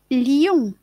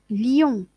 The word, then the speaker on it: Lyon: Yon, maintenant, Y-O-N. Lyon, Lyon. Ville de Lyon, c'est une ville en France. Voyez, donc Lyon, ben, ça s'écrit avec un Y et c'est différent du lion, roi des animaux.